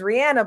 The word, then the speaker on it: Rihanna: Her the correct way of pronouncing her name is Rihanna by the way.